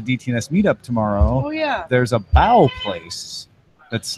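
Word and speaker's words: bao: going to the DTNS meetup tomorrow, there's a bow place that's not far from the convention center. Not to be confused with bowel. Yeah, it's a Wait, B-A-O. Bow.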